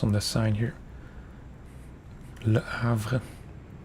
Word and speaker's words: Le Havre: Le Havre. I think that's the correct pronunciation. Not Le Havre.